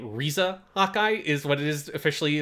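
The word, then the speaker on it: Riza: gears so much that hawkeye's first name is spelled with an r and they say it risa hawkeye is what is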